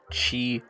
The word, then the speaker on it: Qi: by the name of chi Dex here we are on the landing page of chi Dex as you can see it's a bit confusing at first Qi is pronounced Chi and Dex all the